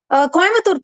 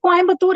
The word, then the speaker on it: Coimbatore: Speak Coimbatore as Coimbatore. Why do you say Coimbatore?